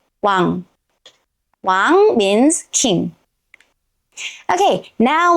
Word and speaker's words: 왕: space at the bottom if we write ㅇ(i-eung) as final consonant we get 왕(wang) 왕(wang) 왕(wang) means king okay